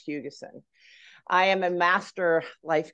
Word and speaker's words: Buckley-Hugessen: am Buckley-Hugessen, and I say Hugessen because a lot of people don't know how to pronounce it, which would be lovely, but it's Hugessen.